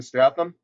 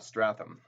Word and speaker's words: Statham: Jason Statham. Jason. So, what this is going to do, nothing, because I probably spelt his name wrong. Okay. Oh, because it's Statham, not Stratham.